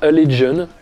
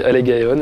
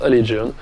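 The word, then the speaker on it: Allegaeon: Alors, j'ai appris récemment que ça se prononçait Allegion. Parce que dans ma FAQ, on m'a posé la question de mon groupe de death technique préféré. J'ai dit Allegaion et en fait, je croyais que ça se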